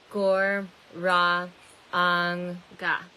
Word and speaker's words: Gauranga: And I included the description, I included the mantra in the description, and we're going to break this mantra up into 4 easy syllables. Gor, Ra, Ang, Ga.